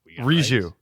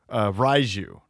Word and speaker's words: Riju: Okay, so what name were we pronouncing incorrectly? Riju. Right? Riju. So we were pronouncing Riju, Raiju.